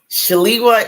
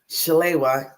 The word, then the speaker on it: Shalewa: shalwa shal yes so there's two ways to pronounce it shalwa is the African-American way Shala is the Nigerian way so my name is